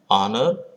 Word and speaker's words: honor: Because H is silent, so an is used. Honesty, honor, honorary begin with H, but the letter H is silent, so honesty, honor, honorary, these words are used.